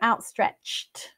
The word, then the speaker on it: outstretched: sounds um you know outstretched we don't pronounce the T but we do write it so it's sound versus